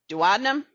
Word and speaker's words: duodenum: Duodenum, jejunum, ileum. Sometimes you'll hear the word pronounced duodenum. Both pronunciations are actually acceptable. I just like duodenum better.